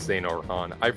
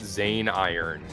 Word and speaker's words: Xehanort: Oh, also, it's pronounced Zane Orhan. I was reading it Zane Iron.